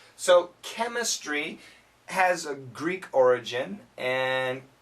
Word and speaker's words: chemistry: a Greek background usually the CH has a k sound when pronounced in English so chemistry has a Greek origin